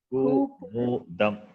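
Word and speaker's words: कुमुदम्: of times till you are familiar with the pronunciation of the letter. It is Ku. Ku. Kumudam.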